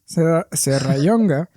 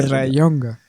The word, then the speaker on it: Serrallonga: Si es una elle. ¿Qué no sabes decir la elle? Tú madrileño. No sé, tío, madrileño. O sea, es que para mí eso es como Klingon, ¿sabes? Alto Valirio. Yo no sé cómo se pronuncia. Serrallonga. Pues ya, mira, te perdono que el acento ese de Yunga. Ese no lo hagas, pero la elle. Serrallonga.